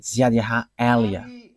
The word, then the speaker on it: Yahvah Eliah: And that is not a Malagasy name, but that is the name from us, and that is my name, so I pronounce it as my father pronounced it, YAHVAH Eliah.